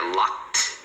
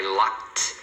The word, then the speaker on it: locked: Tá vendo aqui? É locked. Então o final aqui, ó, eu tranquei todas as portas. Então I locked. Esse ed tem um som de T.